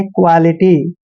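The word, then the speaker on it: quality: ये हमेशा क्यू यू का उच्चारण क्वा करते हैं। क्यू यू ए जब भी इकट्ठा आता है तो उसको आपने क्वा पढ़ना है, क्वा ऐसे। और एल आई टी वाई को लीटी पढ़ेंगे, क्वालिटी। क्वालिटी क्या होता है?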